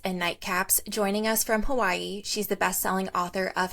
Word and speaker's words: Hawaii: People would just say Hawaii, but now people say Hawaii. Hawaii. W's are often like pronounced like a V.